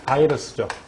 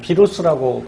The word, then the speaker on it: 바이러스: 하는데 그 녀석이 누구냐면 바로 이 바이러스죠. 뭐 비루스라고 발음하기도 하고요.